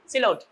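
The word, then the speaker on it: silhouette: The actual pronunciation is সিলোট, সিলোট, right, not সিলহুটি, ইট ইজ সিলোট।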